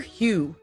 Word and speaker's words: Hue: And this looks like it's spelled H U E, which is like hu the color.